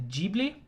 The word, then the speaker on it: Ghibli: studio ghibli films uh and yes it is pronounced ghibli at least that's how i'm gonna i know